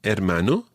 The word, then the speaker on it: hermano: my father would be hermano me hermano now what's that although it starts with an h you don't pronounce the h the h is always